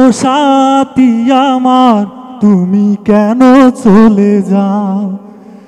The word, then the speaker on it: সাথী: ই করলাম সিলেক্ট করলাম কিন্তু সাথী না সাথী সাথী এই উচ্চারণটা ঠিক করা তো দরকার আসসালামু আলাইকুম ওয়া